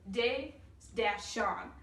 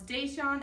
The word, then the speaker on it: Deshaun: So first off, we have his first name, Day-Sean. That way we know it's Deshaun and not any other pronunciation.